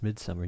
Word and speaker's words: Midsommar: Is it's just Midsummer. You can pronounce it in English because it's just translated to English like you would with any other title.